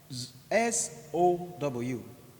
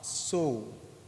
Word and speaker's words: sow: S-O-W is pronounced as sow, sow, sow.